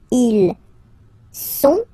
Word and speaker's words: ils sont: Ils sont, final T not pronounced, ils sont, elles sont, okay?